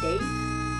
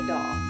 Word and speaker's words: daith: yes it is pronounced doth and i know a lot of people call it date but it's actually doth it's like god but with a d um i finally did